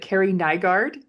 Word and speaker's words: Kerrie Nygard: Is it Carrie Nygard? Did I say that? Yeah, you got it right. Okay, you did good. Awesome. I thought it was like kind of how it's spelled, but welcome.